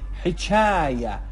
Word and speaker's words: حچایه: حچایه، حچایه، ه به صورت قوی و حلقی تلفظ میشه و کسره هم که ای تلفظ شه.